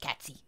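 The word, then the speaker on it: Cait Sith: c gatsy well it spelled kate sith but it's pronounced catsy i'm guessing he has no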